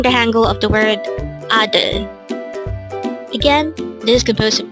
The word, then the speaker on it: 아들: ADEUL. Again, it's ADEUL. This is pronounced as a two-syllable word. The first syllable is A, second syllable is DEUL.